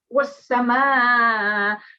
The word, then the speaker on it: والسماء: So it's wasama. On the ma, we have a big mud, which you need to pronounce or prolong for 5 to 6 seconds.